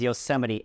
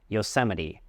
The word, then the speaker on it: Yosemite: Yoseite. Remember the stress is on the second syllable se Yoseite.